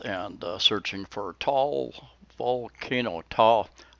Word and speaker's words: Taal: TAAL, I don't say that right. You pronounce both A's. T-A-A-L.